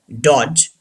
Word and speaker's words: dodge: D is not pronounced. Badge, dodge, edge, hedge.